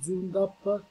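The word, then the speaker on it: Zündapp: oggi voglio parlarvi di Zundapp, si pronuncia più o meno questa perché ha la umlaut, quindi due puntini sopra la U, e GS, grande sport,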